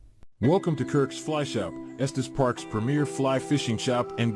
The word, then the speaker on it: Estes Park: That's pretty cool because it actually knew how to pronounce Estus Park. You know, I even hear people in real life typically who are from out of town, they call it Estes Park, but the AI actually knew how to pronounce it. So, that's pretty cool.